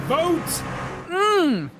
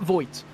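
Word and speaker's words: Voigt: Vote is how they pronounce the driver of the 22's last name. That's how we do it. My apologies for my illiteracy. Yes. Uh Aaron vote. Um, and uh, not Voit. I was thinking for a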